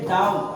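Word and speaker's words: doubt: रहा है बी तो टी से पहले जब बी आता है तो हम क्या बोले बी को साइलेंट करके उस वर्ड को पढ़ते हैं तो यहां पे हमें बी साइलेंट करना होगा तो इसे पढ़ेंगे डाउट और डट मीस होता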